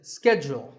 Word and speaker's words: schedule: in American English this is scheduled the first syllable is skipped and the second is jewel schedule in British English it can be both scheduled or scheduled so you can choose the pronunciation that's right for you number 48 is the